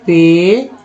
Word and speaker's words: patient: PATIENT उच्चारण क्या करते हैं? पेशेंट, जिसमें दोस्तों पी से एन से टी से तो ट हो गया, TI से होता है श, है ना, PA से